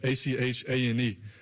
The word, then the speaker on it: Etienne: So growing up, it's Travis Etienne. So it'd be like Achane. And that's how you always said Travis Etienne.